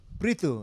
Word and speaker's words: Brito: Breto. What's the origin of that? Breu. Brrito.